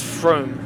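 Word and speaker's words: Frome: pretty easy to pronounce unless it's like front or froome if you know f-r-o-m-e is still pretty sure it's froome but that one can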